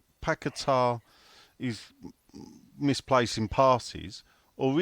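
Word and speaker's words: Paquetá: midfielder out there yeah I see the announcer got his name wrong well yeah it's um I was I was with him um Friday night actually he called him paquetta yeah did you hear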